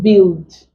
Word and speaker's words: build: e sound but we also have u i as in build biscuits words like guilt Houdini Guinea guitar building building so these are ways we